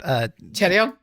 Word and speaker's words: Chaeryeong: And then I can never say her name correctly, but Chaeryeong? Oh, Chaeryeong.